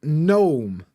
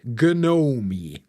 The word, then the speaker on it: gnome: but they exist and a gnome spelled g n o m e gome why I guess g is kind of like this nasal n from some weird spelling or something but the spelling is